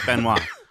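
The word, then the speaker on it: Benoit: But you got to say it like Benois.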